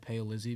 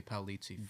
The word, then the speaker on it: Paolizzi: We, you know, that is the correct pronunciation. My family has always said pale lizy because it's easier. Okay. I think. But if you, if we were in Italy right now, they would say paliti.